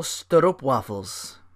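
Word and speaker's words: stroopwafel: also really like the the belgian boys all-natural sterop waffles and it sounds pronounced thank you wikipedia s-t-r-o-o-p-w-a-f-e-l waffles it's a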